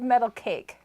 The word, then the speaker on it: Metal KZ: So, Metal KZ says, I'm going to pronounce it for you. So he spelled it out, Metal KZ. Metal case. He's Dutch. Oh, So I have to think of Metal Cake.